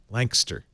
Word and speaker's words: Lancaster: it's gonna be okay Lancaster like as few syllables as possible looks like well Louisville